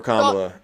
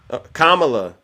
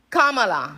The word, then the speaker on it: Kamala: I didn't tell you you're voting for kamla that means you can't even say her name right I said ITA Kamala Kamala thank you thank you